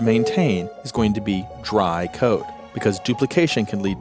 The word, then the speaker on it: DRY: first of those is dry code now I'm always going to pronounce that as dry but it's actually three letters D R Y which stands for don't